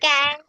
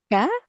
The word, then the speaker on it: cá: Cá, cá. Ka? Yes. Only ka? Ka? Like that? C A. C-A? Oh, Yes. only that. Ka. It's Cá hồi, fish. cá Ka hồi. kahoy? Like this? H? Cinnamon. Cá hồi.